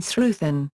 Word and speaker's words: sruthán: There is also a tendency to pronounce the consonant th as an f in certain words such as wathu and sruthan.